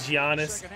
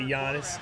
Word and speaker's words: Giannis: looking Lobby notice how everyone pronounces his name different man some st. Gianna's some say Yanis okay okay and then